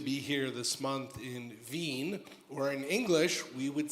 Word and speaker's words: Wien: I'm very fortunate to be here this month in Wien, or in English, we would say Wien. Vienna is a word. We don't know in English that the W is pronounced like a V.